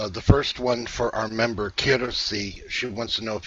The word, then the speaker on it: Kirsi: The first one for our member, Kirsi.